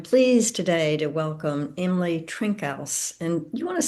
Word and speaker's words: Trinkaus: today to welcome Emily Trinkals. And you want to say your last name once for me so I don't say it wrong. Yeah, I say Trinkus.